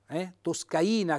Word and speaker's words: toscaina: lo zoppo la toscaina toscaina 100 tonico sulla i e la tosse canina